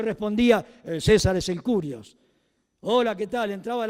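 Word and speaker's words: κύριος: Y cuando se traduce del hebreo, del Adonay al griego, se usa la palabra Kirios o se pronuncia la griega curios.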